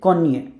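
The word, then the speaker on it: koń: সো নি, নস, এটা হচ্ছে এন আগেরটার মতোই, কিন্তু এন এর উপরে একটা দাগ আছে, এটার একটা উচ্চারণ হচ্ছে নিয়ে, নিয়ে, নিয়ে। শব্দটা হচ্ছে কনিয়ে, কনিয়ে, কনিয়ে মানে হচ্ছে হর্স।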